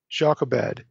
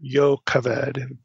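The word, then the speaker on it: Jochebed: his as his wife jobed his father's sister or yoed be the better Hebrew pronunciation amram took his wife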